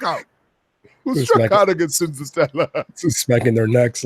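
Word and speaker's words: Senzatela: Cinzatella, yeah.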